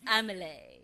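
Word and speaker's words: Amélie: Oh, it's the French pronunciation. It's Amelie, is it?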